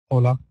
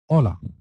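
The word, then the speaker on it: hola: أولا، كما عرفنا في دروس ماضية، أولا لا تنطق اتش، لا تنطق، حرف ساكن يوت. إذن أولا أولا أولا أولا أولا.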